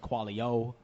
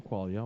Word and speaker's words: Qualia: Yeah, that's How do people usually pronounce it? Qualia. Qualia, Quail. Qualia. Oh, Quail? man. I've heard Qualio. Koala.